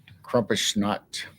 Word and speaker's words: Krampusnacht: It's the German Krampusnacht. Krampusnacht. Krampusnacht. Krampusnacht. It's Krampus. And then whatever notch is in German.